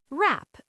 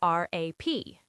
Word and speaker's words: wrap: Wrap. W R A P. Rap. Same as the music.